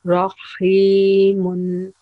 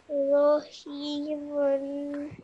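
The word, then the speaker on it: رحيم: It's not related to Madda, but whenever Ra has Fatha, we pronounce it a bit rounded or thick sound. So it will be Rahimun. Rahimun.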